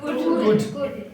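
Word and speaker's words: could: ऑफ कुड नहीं है कुड ल जो है ल जो है साइलेंट है कुड क्या क्या बो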